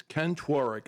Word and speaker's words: Tworek: His name is Ken Tworek. Am I pronouncing that right, Ken?